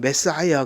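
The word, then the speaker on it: Messiah: 그래서 이제 영어로는 메사야 그렇게 발음을 하는데 메시아, 그리스도가 다 같은 말이에요.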